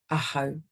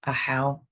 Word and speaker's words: ahau: Ahau. commonly mispronounced as a how, which is also difficult to listen to.